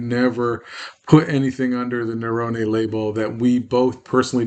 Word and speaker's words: Naravane: This is our Nerone. That's the authentic pronunciation of my last name. We've Americanized it to Naravane, which is fine. Call it Nerone, call it Naravane. It's perfectly fine.